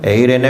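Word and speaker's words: εἰρήνη: 그리스 말로는 에이레네 휘민이라고 발음되는 문구입니다. 눈치채셨겠지만 피스에 해당하는 단어가 에이레네인 거예요.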